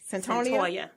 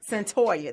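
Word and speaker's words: Cyntoia: gonna be discussed let me correct her name pronounce it correctly in Centennial sentorria sentorria that is so pretty sentorria Brown so she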